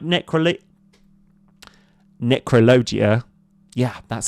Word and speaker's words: Necrologia: gaining we can cast a card like necro necrologia yeah that's how you pronounce announc that um and as an additional